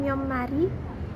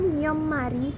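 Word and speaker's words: 몇 마리: Misalnya pelafalan myeommari itu kan myeommari yang artinya berapa ekor berasal dari kata myot dan mari. Jadi setelah kedua kata tersebut digabung, bunyi akhir tiet itu akan berubah menjadi miem karena diikuti oleh bunyi m. Jadi maka dari itu pelafalannya pun berubah menjadi myeommari.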